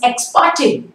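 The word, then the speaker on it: ex parte: नेक्स्ट word is एक्सपार्टे. आपने बहुत बार सुना होगा एक्सपार्टे, इट्स a very common term. It's नॉट एक्सपार्टे, र is again silent, एक्सपार्टे.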